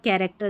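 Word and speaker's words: character: Chemist, chemistry, coarse और कैरेक्टर। यही spellings जो है जहां पर हम सीएच को क पढ़ते हैं।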